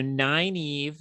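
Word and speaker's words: Nynaeve: woman named n Neva ninev n n is the worst pronunciation of that name but it's the one Robert Jordan went with okay so nine Eve um and is an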